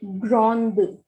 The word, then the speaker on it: grande: is saying, then we will use the spelling GRANDE. So hear the pronunciation carefully. Je suis grand. Je suis grand without E. And now I'm going to pronounce with E. Je suis grande.